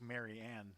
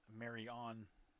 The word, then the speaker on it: Marion: Marion, Indiana? I know that, but like... Is Indiana Wesleyan in Marion? And then where's Marion? Like Mary Ann. It's not Mary On.